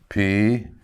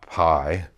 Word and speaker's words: pi: Amron P again, not pi.